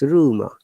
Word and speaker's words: rumor: at the beginning but at the last letter in rumor we are not pronouncing r so it is rumor run roast rest rinse